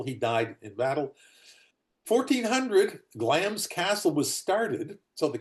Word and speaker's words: Glamis: what it turns out is not glamus. It's glams. The I is in there. You don't pronounce it.